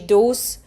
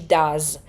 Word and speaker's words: does: Czyli nie mówimy she does czy coś takiego, tylko she does, tak? Tam jest z na końcu, więc na to zwracamy